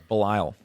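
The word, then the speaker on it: Belial: And in Christian and Jewish demonology, you've got Lucifer, Beabub, Asmodes, Belelliel. Is that how you pronounce that? Balile.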